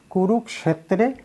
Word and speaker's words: কুরুক্ষেত্রে: আর উচ্চারণ যে কুরুক্ষেত্রে যে উচ্চারণ করলাম এটা তো একটু আগে বলেছি, যুক্ত ক আলাদা স আলাদা উচ্চারণ করা লাগবে। এই জন্য ধর্মক্ষেত্রে কুরুক্ষেত্রে সমবেতা, দন্ত সটাকে বলেছি ছয়ের মতো উচ্চারণ, সমবেতা।